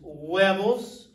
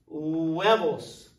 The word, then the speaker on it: huevos: eggs correct word is huevos remember that the H is silent huevos lunch is those of